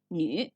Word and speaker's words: 女: Das linke Zeichen bedeutet Frau und wird im Hochchinesisch Nü gesprochen.